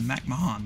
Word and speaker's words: McMahon: shane bazz katel marte mac mahan mcmahon that's how you say it mankata uh lubrock kiki